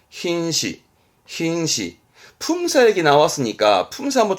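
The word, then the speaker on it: 品詞: 발음은 흰시.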